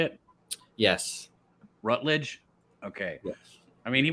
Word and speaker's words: Rutledge: When you say his name, Rutledge? Is that how you say it? Yes. Rutledge?